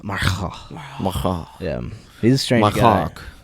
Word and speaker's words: Marcus: Marcos. That's how he says you have to pronounce it. If you say Aubrey Marcus, he says no, it's Marcos.